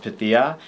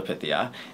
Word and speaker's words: Pythia: us multiple times that her name is pronounced pithia and everyone calls her pythia and i think it's